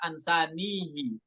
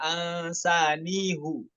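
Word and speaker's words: أَنْسَانِيهُ: Karena di riwayat lain bisa dibaca ansanihi ataupun alaihillah ya. Di sini dibaca dhammah semuanya. Ansanihu. Kemudian alaihullah seperti itu.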